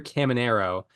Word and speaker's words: Caminero: I was Caminero. so close. I'll just reveal right now he's not on my list, but I was so close. I really wanted to. Yeah, excuse me, I mispronounced. Junior Caminero of the Tampa Bay Rays.